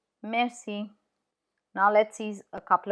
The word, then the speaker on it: merci: C in front of E is pronounced S. So fiancé or merci, merci.